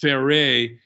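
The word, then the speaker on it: Ferré: folk hero uh yeah the fairy it wasn't pronounced that was pronounced fairey no it was never pronounced fairy fairey f-e-r-r-e a french that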